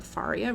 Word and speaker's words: Faria: And last game, but not least, definitely is Faria. Or Faria, rhymes with Daria.